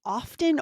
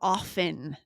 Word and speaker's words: often: This was an interesting one about saying often or often, right? Yes, if you missed that episode, I loved it. It was 2146. Lindsay Mhm. says often. I Yes. say often with a silent T.